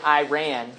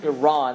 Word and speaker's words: Iran: next to it is Iran, and so they pronounce it Iran. Right? I believe the correct pronunciation in the context of the Middle East is Iran, like the Iran, not I.